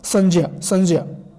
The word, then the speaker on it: संज्ञा: भी इसका उच्चारण देखेंगे, चूँकि ज्ञ एक संयुक्त अक्षर है, तो उसकी दृष्टि से अगर हम देखेंगे तो इसका जो शुद्ध उच्चारण होगा संज्ञा।